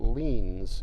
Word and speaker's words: lien: talk to you about leans in cases what's a lean how do you spell it lean is spelled l-i-e-n and a lien is